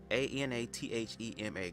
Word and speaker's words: anathema: A-N-A-T-H-E-M-A.